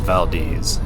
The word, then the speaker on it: Valdez: And now we are on a beautiful drive to a place called Vald. It's spelled like Valdez, but it is pronounced Vald.